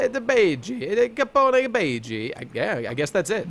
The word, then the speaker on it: Capone: Okay, this is how it's pronounced. Capone.